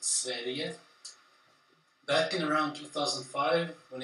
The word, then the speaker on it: Sverige: It's pronounced Sverige.